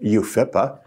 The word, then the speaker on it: UFIPA: Its acronym, UFIPA, usually pronounced UFIPA, means Uniform Fiduciary.